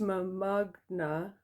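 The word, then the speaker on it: mbaqanga: bootleg tape of some African music, and it's pronounced Mamagna, and it's a style of African music rooted in Zulu.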